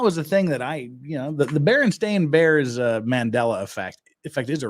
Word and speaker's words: Berenstain: But we all know that it's not the Bernstein Bears, it's the Berenstain Bears. And that was the thing that the Berenstain Bears Mandela effect is a real thing.